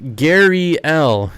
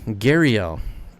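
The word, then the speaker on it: gharial: They are pronounced Gariel. Gariel.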